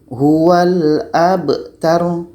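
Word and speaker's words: هُوَ الْأَبْتَر: Kita baca huwal abtar. Huwal abtar. Ro-nya mati, ta-nya pendek saja.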